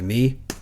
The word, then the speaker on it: Needers: I know Ryan Needers, which I found out I was pronouncing his name right. It's like Needers.